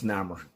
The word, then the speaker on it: Namor: It's Namor. Okay, I don't know these words the way you pronounce it.